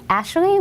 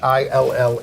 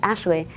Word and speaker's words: Achille: It's pronounced Ashley, which I think is funny because it sounded like Achille. Yeah, everyone was saying actually in the videos, but it's Ashley.